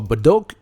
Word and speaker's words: Bedok: If you want to allow your customers to search for your other locations, for example, I'll search for Bedok. That's how we pronounce it and the area coverage, I'll put it as 1 km and I search for it.